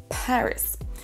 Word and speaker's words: Paris: Paris, c'est la première syllabe qui est accentuée. Paris.